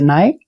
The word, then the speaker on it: Nae: The first thing that maybe also for our audience to notice, like when I'm pronouncing like Nae Vegan, you say Nae, like the Portuguese version.